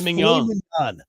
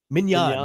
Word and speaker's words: mignon: So a filet mignon is better than a tomahawk. By the way, you say that wrong every single time. Filet mignon. Mignon, not mignon.